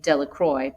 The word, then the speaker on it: Delacroix: Harry Jones and Dicky Delacroix the villagers pronounce this name Delacroix eventually made a great